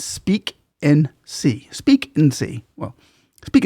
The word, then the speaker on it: Speak and See: It's Speak and See.